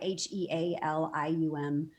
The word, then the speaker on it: Healium: And a reminder that helium is spelled like heal, like healing. So that's try, Healium. And it's a subscription basis.